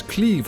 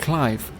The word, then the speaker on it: Clive: heard some people including that night sky prince pronounce it as cleave or something which i actually think isn't so bad but the japanese version of the website seems to confirm that it is in fact clive not trying to throw any shade on the